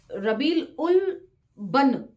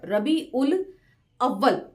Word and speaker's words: रबी उल अव्वल: बन को जो है नीचे फुटनोट में दिया हुआ है रबी उल अव्वल, एक्चुअल प्रोनाउंसिएशन ये है।